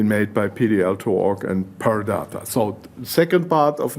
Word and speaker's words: Purr Data: up and running and okay pure data that is per data so that's how it